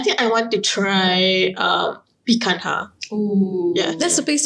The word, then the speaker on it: Picanha: They say it's pronounced Picanha.